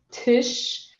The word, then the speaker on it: Tisch: Quando você tem SCH. O SCH, ele tem som de sh. E o sh, ele é pronunciado de forma que você vai colocar a sua boca para frente e sh, passar o A pelos dentes. Sh, ok?